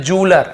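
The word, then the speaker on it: jeweller: ऐसे ध्वनि निकलता है, जूलर ऐसे होता है, हम लोग ज्वेलरी बोल देते हैं, वो भी गलत नहीं है, लेकिन सही प्रोनाउंसिएशन बोलेंगे तो ज्वेलरी ऐसे होता है, यहाँ पे जूलर ऐसे।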